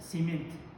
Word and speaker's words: семент: Цемент – это семент. Казахша.